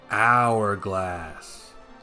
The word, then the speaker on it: hourglass: thought I already could hourglass the H is silent more silent than usual